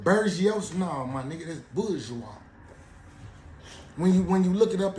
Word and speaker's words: bourgeois: No, my nigga, that's bourgeois. When you look it up in the Webster Dictionary, it'll break it down to you, and you'll see W-A-Z, bourgeois. It's pronounced like it got a Z in it, but that's where the terminology bougie comes from.